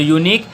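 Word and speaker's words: unique: तो यूनिक वाई से शुरू होता है, ध्यान दीजिएगा। यूनिक ऐसे लिखाएगा ना, इसको लिखिएगा तो वाई यहाँ पे प्रोनाउंसिएशन कर रहा है, वाई ओ यू, है ना।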